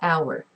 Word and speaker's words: hour: letter its letter H it's a consonant but it is not pronounced the first sound that you hear is a vowel sound it's a thousand you